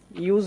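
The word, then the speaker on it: use: আচ্ছা এবার আমরা দেখব ইউ ড্যাশ ই এভাবে যদি কোন বর্ণ শব্দের প্রথমেই ব্যবহার করা হয় তাহলে আমরা ইউ এর মত উচ্চারণ করবো এই ফরমেটটা যদি শব্দের প্রথমে ব্যবহার করা হয় তাহলেও কিন্তু ইউ এর মত উচ্চারণ হয় আচ্ছা উদাহরণ দেখো তাহলে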